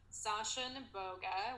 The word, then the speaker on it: Sasha Neboga: I'm at Sasha Neboga, which you did pronounce correctly.